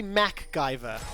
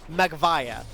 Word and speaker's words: MacGyver: It's supposed to be MacGyver, of course, right? Yes, but yes. when he was a child, he couldn't pronounce it. So, because he couldn't pronounce it, ends up being Magvaya.